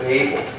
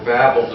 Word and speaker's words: Babel: we get to the Tower of Babel um or Babble depending on how you want to pronounce it um there are two